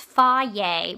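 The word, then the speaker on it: Fage: you want it listed and Fa yogurt it's pronounced fa but it's spelled f a g e it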